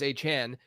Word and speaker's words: Achane: But it's also like we learned this with like Devon Achane, where in college his name everywhere was spelled Devon with no apostrophe. Yeah. And then it was like there were a ton of different pronunciations with his last name, and then we learned that it was Achane.